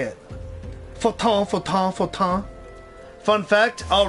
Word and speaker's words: Fortin: Fortin, Fortin, Fortin.